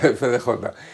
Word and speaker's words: FDJ: Que era Egon Krenz, que era el jefe de la FDJ, o FDJ, ¿lo he pronunciado bien? Sí, FDJ.